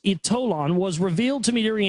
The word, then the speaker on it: Ytollan: The power of Ytollan, so it's pronounced Ytollan, was revealed to me during a spiritual hypnotherapy regression during which I experienced life in Atlantis.